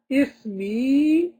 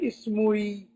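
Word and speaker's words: اسمي: You can only hear a kasra. You say ismi because the ya is so strong, it's overpowered that dhamma in pronunciation. You will not be able to say ismui, ismui.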